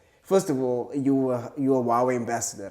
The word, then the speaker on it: Huawei: Because it's an H, and then I say Huawei. It's Huawei. Okay, because I'm sure there's a lot of people that I don't pronounce it correctly. Yeah, they normally say Hawaii. That's also another way to pronounce it. So it's Huawei.